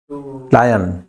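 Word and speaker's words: lion: टू लायन, ठीक है, लॉइन नहीं बोलोगे, लॉइन तो धोती होती है, लायन के अंदर LI आता है पहले, शेर की स्पेलिंग में आई पहले आता है, ओ बाद में आता है, इसको बोलेंगे लायन।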